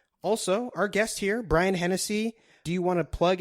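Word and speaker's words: _Hennessee: So it's at _Hennessy. It's spelled like the drink, but instead of EY, it's EE. So HENNESSEE.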